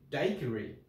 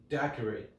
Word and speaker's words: daiquiri: So in the Spanish-speaking countries and the country of origin, which is Cuba, and also in Europe, they pronounce it daiquiri. In the United States, daiquiri. I'm from Europe, live here in the States, so I'm gonna go somewhere like between like daiquiri, something like that, okay?